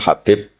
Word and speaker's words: Habib: Ada yang nulis Abi Abdurrahman Habib Asulami. Itu di harakatnya kitab itu ada yang nulis Hubab. Tapi yang benar Oh, nggih. Yang benar itu bacanya habib.